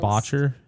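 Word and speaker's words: Boettcher: But I think it's pronounced Botcher.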